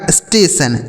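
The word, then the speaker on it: station: अगला शब्द लिखा है दोस्तों एस टी ए टी आई ओ एन। इसे क्या पढ़ेंगे? तो इसे पढ़ा जाएगा दोस्तों। देखिएगा इसे पढ़ा जाएगा स्टेशन। एस टी ए टी आई ओ एन। तो एस से आधा स हो गया। इस टी ए से टे हो गया और टी आई ओ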